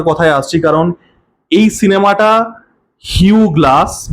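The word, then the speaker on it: Hugh Glass: কারণ এই সিনেমাটা হিউ গ্লাস বা হিউজ গ্লাস যাই উচ্চারণ করেন আমেরিকানরা। হিউ গ্লাস উচ্চারণ করে হিউ গ্লাস। আমেরিকান একসেন্টে। তো তার গল্প এবার প্রথমেই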